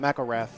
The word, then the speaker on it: McElrath: I think I was saying it wrong, but McElrath.